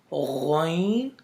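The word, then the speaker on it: غ: The third letters are the throat letters which is pronounced from the upper throat, which is close to your mouth. So these letters are two letters, ghain, kha.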